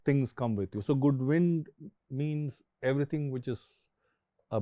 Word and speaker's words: Goodwind: Again, as both of you know, we get asked, and we also battle this mispronunciation of the name as Goodwin. But actually, it's Goodwind Moto Tours, and it's Goodwind is an old sailor term.